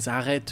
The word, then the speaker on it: arrête: the Parisian way is like the prolongating the E at the end. Arrête.